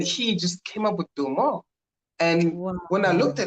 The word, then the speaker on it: Bilma: Bilma, not Belma, yeah, Bilma. Bilma. Bilma, Okay. yes, So B-I. we've actually been spelling it wrong.